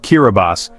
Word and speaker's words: Kiribati: The name Kiraabati, pronounced Kiraabas, is the local term for the Gilberts, named after the Gilbert Islands, which were charted by British Captain Thomas Gilbert in 1788.